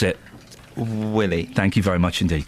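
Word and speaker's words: Wiley: pronounce it Ollie can you how would you pronounce it Willie thank you very much indeed can we clip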